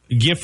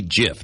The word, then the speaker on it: GIF: played off of that it's supposed to be GIF not GIF really I've never heard most people say GIF and that drives me nuts really it does I'm